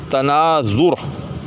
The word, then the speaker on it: تناظر: اوپر زبر پڑھتے ہیں۔ اسی طرح سے تناظر، اکثر و بیشتر تناظر تناظر، زوئیں کے اوپر زبر پڑھی جاتی ہے، غلط، تناظر، ٹھیک، تقابل، تفاعل، تشارب، ٹھیک۔ تو